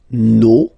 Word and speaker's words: nos: Okay, and then for the plural, nos, vos, and then leur.